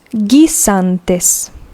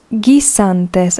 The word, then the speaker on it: guisantes: Peas, los guisantes. Los guisantes. Remember, we don't pronounce the U because it is in between a G and an I. Los guisantes.